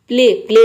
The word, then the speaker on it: play: इन सभी में आप देख रहे हैं कि ए वाई एक साथ आ रहा है और इसको हम ए प्रोनाउंस कर रहे हैं। स्टे। स्टे मीन्स होता है ठहरना। प्ले मीन्स होता है खेलना।